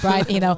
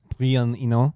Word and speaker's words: Brian Eno: Anyways, but yeah, this motherfucker, he's like, I'm the only one that can listen to Brian Eno.